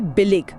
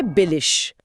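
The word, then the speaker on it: billig: हाँ, जैसे सस्ता के लिए शब्द है बिलिग, उसे बोलेंगे बिलिश।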